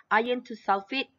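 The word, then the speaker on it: iron(II) sulfate: we have iron to sulfate okay so we pronounce it like this iron to sulfate hydrated it appears but with the seven water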